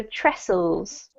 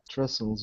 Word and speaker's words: trestles: silent um yes yes it's pronounced as if it just have SS in the middle so trestles trestles Willis mean um it's